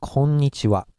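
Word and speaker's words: こんにちは: say hello we go it's konichiwa in Roman era but home knee she and the be careful are the last one is ha so it's age a but it's a Japanese special rule and special in this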